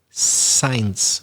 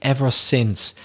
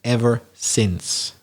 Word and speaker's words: ever since: or two words i noticed that she said science a very typical mispronunciation it should be ever since yeah because often when you see i-n-c-e it